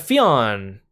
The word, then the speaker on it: Fionn: Next we have Fionn. Or is it pronounced Finn? I think if you say it like in Irish, it's supposed to be Finn.